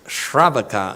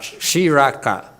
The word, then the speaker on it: shravaka: monk okay it doesn't it's pronounced it's shravaka not sriracha you you like sriracha